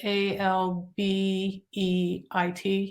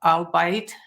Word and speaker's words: albeit: So the feedback came from him, you know, or if I mispronounced a word, like, you know, the word ALBEIT, and I thought it was albeit. Yeah. It's albeit.